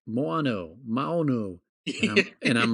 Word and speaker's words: Maono: brand is just pronounced Mono. Maono. probably. Everyone on YouTube is like Moano, Maono. And I'm like, I know it's spelled Maono, but I have a feeling it's just pronounced Mono.